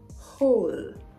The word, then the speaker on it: whole: who who SE whose whole whole the same way you pronounce whole whole whole so the H is pronounced while the W is silent we'll delve into that